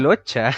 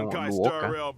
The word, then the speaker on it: Luocha: Locha, lo pronuncia en inglés, Locha. En japonés no sé cómo era la pronunciación, pero yo lo leía como Luoka. Aunque puede ser Luocha What's igual.